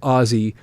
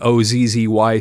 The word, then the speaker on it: Ozzy: Geezer Butler, bass guitar, Bill Ward, drums, and Ozzy Osbourne, vocals and harmonica. And you'll notice that it's spelled O-S-S-I-E.